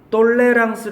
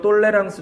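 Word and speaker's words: tolérance: 거라고요 toate 센 단어예요 실제로는 명사형이 tolerance 되고요 똘레랑스 발음하면 얘는 프로예요 프로 로 프랑스 말로 똘레랑스 발음하는 되게 이제 관용이란 뜻이에요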